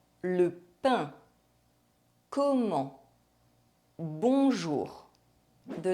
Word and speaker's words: bonjour: vowels followed by N or M and a pronounced consonant, other than N or M. Bonjour. The vowel sound is nasalized and we do not pronounce the N or M. Le pain. Comment. Bonjour.